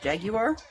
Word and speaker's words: Jaguar: One of them would probably be Jaguar, or as the UK people pronounce it, Jaguar. Go figure.